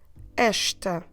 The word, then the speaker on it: esta: ending and I get the word ashta esta casa casa ashtakazam so how do we spell it